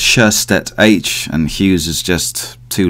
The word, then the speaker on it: Sjöstedt-H: Welcome to Deconstructive Criticism, Sjöstedt-H, right? The English version is Sjöstedt-H, because English people can't say Sjöstedt as I pronounce it. So it's Sjöstedt-H, and Hughes is just too long with Sjöstedt, really.